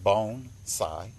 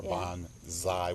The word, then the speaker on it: bonsai: what bonsai is bonsai first of all it's pronounced bone sai bones a lot of people say bonsai or bon zi with a z but it's bonsai it's two